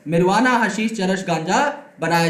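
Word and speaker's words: marijuana: जैसे कि मैरिजुआना, इसे मैरिजुआना नहीं बोलते, मैं सिर्फ पढ़ के बता रहा हूं, इट इज मिरवाना। ओके, तो यहां पर जे नहीं होता, साइलेंट है।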